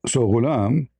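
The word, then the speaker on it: غلام: The word is pronounced with a gyn, and its plural is gilman. Its origin is from idolam, which means intense desire for marriage. For sex. So ghulam, it can be used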